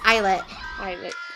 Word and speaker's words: ILLIT: Last time we pronounced it wrong. It's Illit.